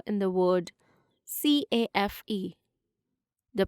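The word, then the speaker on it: café: accent on the correct letter in the word c-a-f-e the pronunciation is cafe answer in the comment section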